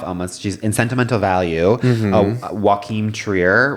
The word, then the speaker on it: Joachim Trier: Joachim Trier, right? That's how you pronounce it.